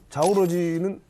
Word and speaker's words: 자오러지: 너무 궁금해지는데 짭정은 씨 이번에 그 자오러지는 왜 만난 거예요? 뭐 무슨 비밀 얘기한 거예요? 사실 그 자오러지 동무 같은 경우는 무슨 아니야. 중국 원 발음입니다.